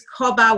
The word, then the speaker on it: cobber: So just for those listening, what they're saying is Cobber Wealth. Cobberwealth. Cobber is spelled C-O-B-B-A.